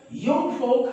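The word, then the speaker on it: Jungvolk: जैसे उसने युंग फोक का गठन किया, बेटो जे से शुरू होता है लेकिन इसका प्रोनाउंसिएशन युंग फोक है।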